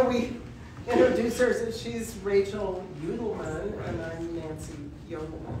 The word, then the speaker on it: Youdelman: know it's really interesting the way you've pronounced my last name because that is the way it's supposed to be pronounced that uh all our